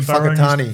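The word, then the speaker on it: Whakatane: Oh, Have I pronounced that correct? Yeah. Whangarei. Whangarei. Whangarei. Say that was because it's WHA. Is that right? But WH is like Whangarei. Remember Benji and Fakatani. Fakatani. It's WH.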